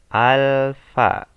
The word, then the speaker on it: alfa: ah huruf a ini Ini bacanya itu halfa dari bahasa Yunani itu ya Oke kita